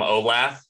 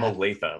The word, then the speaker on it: Olathe: are you you're from olaf and i was like no from olathe like it's pronounced dumb like everything in america is pronounced stone like nothing just pronounced the way it's spelled like by the way